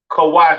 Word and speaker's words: Kush: have Kush all right Kush pronounced Ka in the Hebrew all right uh famous